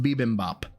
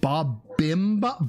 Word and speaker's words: bibimbap: I've always pronounced it bibimbap. But I know... Called it bobimbap?